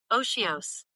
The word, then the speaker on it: otiose: Oshios. Oshios. Oshios. Oh, it's pronounced she.